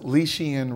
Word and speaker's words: Leishian: My full name is pronounced Leishian.